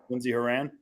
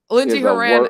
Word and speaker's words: Lindsey Horan: but she is a extremely Raw Talent yeah Lindsay Iran Lindsey Horan is worthless as I like